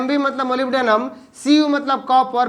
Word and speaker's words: molybdenum: उसके बाद Mb, इसको हम मोलिब्डेनम बोलते हैं, MOLYBDENUM, मोलिब्डेनम।